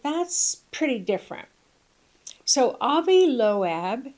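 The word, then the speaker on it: Loeb: So, Avi Loab, it's spelled, his last name is spelled L O E B.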